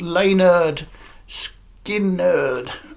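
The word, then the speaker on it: Lynyrd Skynyrd: to pronounce it yes it's pronounced Leonard skin nerd uh so Leonard Skinner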